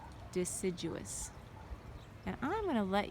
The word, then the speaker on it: deciduous: Deciduous. So it has 4 syllables. Deciduous.